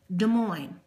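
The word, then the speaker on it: Des Moines: l iOS is capital De Moine d e s space m o i n e s it's French so you don't pronounce the last letter of the words moving on Missouri Capital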